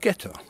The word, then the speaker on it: ghetto: away in Italian and when the Germans arrived here in 1528 because they couldn't pronounce the soft G of jet or they called it ghetto and this became the